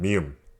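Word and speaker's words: 미음: This consonant is called mium, and it is the sound you make when you close your lips, which sound like an M sound.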